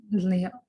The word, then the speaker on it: Leon: Leon or Lion? Leon.